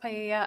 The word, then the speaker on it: paella: It's pronounced paella.